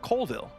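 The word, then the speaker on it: Colville: a completely new game being developed by Matt cville see I pronounced his name right this time check out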